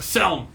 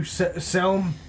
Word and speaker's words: Selm: ah all right he needs to talk to selm selm yeah selm brawn fellow can you spell that s-e-l-m rom-fill b-r-o-u-n and there's he inside